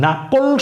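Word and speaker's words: knuckle: তো এই যে নাকল, এখানেও কিন্তু কে ছিল শুরুতে, কিন্তু এখানেও কে এর উচ্চারণ হবে না। উচ্চারণ শুরু হয়েছে এন থেকে।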